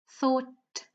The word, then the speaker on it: thought: So I'll just give you a few more seconds to tell me which letter is silent in each of the words, okay?